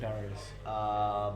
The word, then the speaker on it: Darius: What rhymes with Darius? Marius.